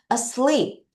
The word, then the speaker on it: asleep: 다시 요거가 애가 아니라 어 발음이에요. 다시 한번 같이 읽어요. 준비. 시작. Asleep.